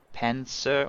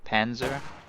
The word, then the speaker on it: Panzer: I realize that the Z is like region dependent. It could be Panzer or Panzer or Panzer. Panzer. It can be a Z or a S, like its sound.